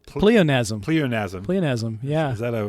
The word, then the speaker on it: pleonasm: How do you pronounce the name? Pleonasm.